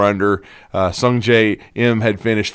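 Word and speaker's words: Sungjae Im: I mean, certainly, Sung J M. Did I say it right? Yeah, Sun J M.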